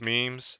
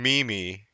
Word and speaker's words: meme: to pronounce memes. That's pretty funny. Just like Mm. GIF and GIF, right? He said that he was I go calling with GIF. saying Mimi, which I think is actually funnier, but I